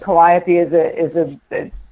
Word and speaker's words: Calliope: But we have a street spelled the exact same way, and it's pronounced Calliope.